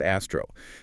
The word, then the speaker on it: ASTRO: That's ASR O, pronounced Astro.